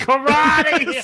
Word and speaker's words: Corradi: So Kathleen Karate is Karate. Oh my god. But her name is spelled Corradi. I don't want to know how it's spelled. All I care about is how it's pronounced.